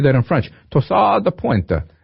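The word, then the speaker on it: torsade de pointes: Torsade de pointe. I probably sounded more Italian when I said it, but it's French.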